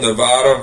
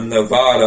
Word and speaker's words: Nevada: had to be for Nevada or Nevada I don't know where yall from but they said we everybody pronounces it wrong it's Nevada not Nevada I'm like what so